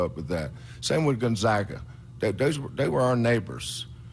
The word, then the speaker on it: Gonzaga: get a game with Gonzaga in 2021 Gaga Gonzaga Gonzaga uh I always it burn always Burns me